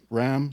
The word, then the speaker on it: Ram: Ram short for Ramsay pronounced like the animal is a Baltimore based